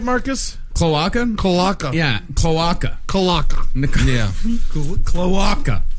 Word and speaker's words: cloaca: Are these cloaca pictures?